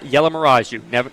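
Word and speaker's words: Yellamaraju: Just spelled like it sounds. It is. It actually is.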